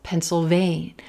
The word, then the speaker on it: Pennsylvania: Sounds like that tool that we write with. Pencil, Pennsylvania, Pennsylvania. Yeah, yeah. A little yeah there in our final syllable.